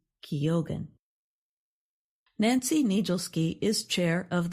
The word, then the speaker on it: Keoghan: The last name of Irish actor Barry Keoghan, who starred in Saltburn, is pronounced Keoghan.